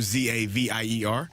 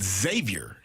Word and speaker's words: Xavier: to this texture my son's name is Xavier z- a v i e r and that's how we pronounce it Xavier you wouldn't be able to tell me how